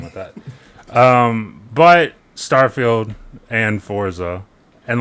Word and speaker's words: Forza: But Starfield and Forza and like mini Forzas, Forza. like you can keep saying Forza like we're building a fort. We're not. It's It's Forza.